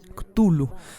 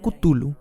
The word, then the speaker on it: Cthulhu: no fatigar los con esta pronunciación cthulhu también puede ser pronunciada como tú lo como club club tu look cthulhu siglo catullo tul y que tal y tul o tu look a su turno culo con tu luz cutie y lo que tú y tú estoy en un intento